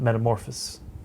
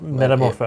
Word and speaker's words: Metamorpho: necessarily, or at least I didn't know about Metamorphosis, and no, I had never known about Metamorpho, and is that his name, Metamorpho? Metamorpho.